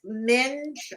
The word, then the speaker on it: minge: It's pronounced minge. Oh, okay. Your minge, your minge bag, your minge fucking minge bag. Minge. Or, but there's also you could also say minger with a soft G.